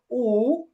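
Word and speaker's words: 五: আর শেষে যেটা আছে পাঁচ, পাঁচ হবে উ, উ, এটা হবে থার্ড টোনে, হ্যাঁ।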